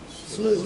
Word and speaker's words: slough: Is it slow or slough? How do you pronounce that? Slough.